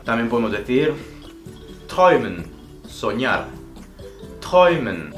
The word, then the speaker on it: träumen: Träumen se escribe con A umlaut y U. Y ahí tenemos la fonética träumen.